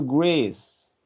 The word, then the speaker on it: Greece: It's go not Grace. It's Greece. Grace. Greece. Yes, I mean. yes, that's a good one. If I had an airplane, I would go to Greece.